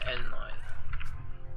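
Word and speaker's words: Elnoyle: It's pronounced Elnoil.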